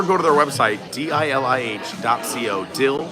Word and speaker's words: DILIH: Dill is how you pronounce it.